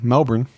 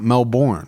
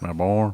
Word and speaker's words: Melbourne: Melbourne. Not Melbourne. Melbourne. It's Melbourne. Good day.